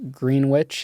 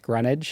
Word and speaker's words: Greenwich: Another one is um like Green Witch is pronounced Greenwich.